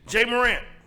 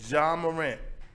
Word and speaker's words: Ja Morant: Jay Morant.